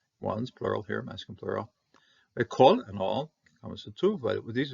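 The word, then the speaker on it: כָּל: Kol and all, two, but these are both two. Kol and kol, closed on accent syllables are going to be an O rather than an A.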